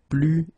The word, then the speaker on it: plus: So the first example is plus et plus. Okay, so you can see that I don't pronounce it final S.